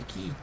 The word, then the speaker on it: ki: Y pronunciación, se dice ki, y el significado tierra, ki, o sea, sería el ki, la tierra, ki, la tierra.